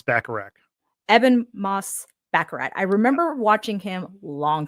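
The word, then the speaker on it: Ebon Moss-Bachrach: do you say his name the thing it's eban eban m backarat eban Moss backarat I remember watching him long time ago Mona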